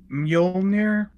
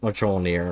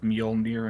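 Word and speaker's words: Mjölnir: she pronounce it as I think I did the usual white thing is this much all near or something like that yeah I said the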